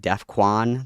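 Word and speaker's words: Defqon: It's like de It's like with a a Q. It's like defuan. That's like how it's spelled.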